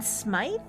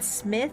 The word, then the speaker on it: Smythe: So his mistress, Judalon Smythe, I think is how you say it. Maybe it's Judalon Smith. It's Smyth. So I would think that's Smythe, but I would think so, but it could just be odd spelling.